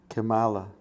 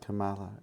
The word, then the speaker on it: Kamala: Kamala. It can be pronounced Kamal, but it can be pronounced Kamala as well. Whichever you choose is fine.